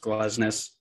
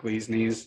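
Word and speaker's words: Glesnes: fact that we know his name is pronounced glossness and not glee's knees so please don't impress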